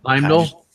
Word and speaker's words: Heimdall: Heimdall?